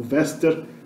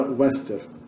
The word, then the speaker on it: vester: nostrum, wester, westra, o vester, vestra, vestrum, como eu pronuncio, né, esse U aqui já como V, porque eu uso a pronúncia italiana, mas no latim clássico era wester, pronunciado como W, isso aqui.